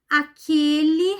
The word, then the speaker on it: aquele: Aquele rapaz veio falar comigo. aquele. Então, a pronúncia também é fechada.